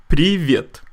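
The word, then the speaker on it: привет: rule later on alright so how do you pronounce this word that's right privyet so if you don't know how to spell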